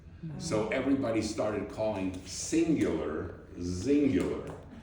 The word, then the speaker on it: Xyngular: What do we call this company? Singular. But we couldn't spell it with a a C because there was a telephone company. Wow. That was called singular. So we spelled it with an X.